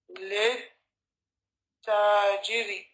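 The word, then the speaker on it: لِلتَّاجِرِ: of alif or lam, and then the pronunciation becomes lit tajiri.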